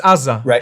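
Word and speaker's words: עזה: It's Aza. Just to correct you, it's pronounced Aza.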